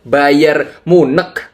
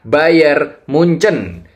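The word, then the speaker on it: Bayern München: Klubnya mengikuti Munchen RW atau orang-orang bilang Bayer Munek. Kenapa Munek? Ya karena memang begitu tulisannya di Google. Coba deh kalian searching. Tapi yang benar cara bacanya adalah Bayern Munchen.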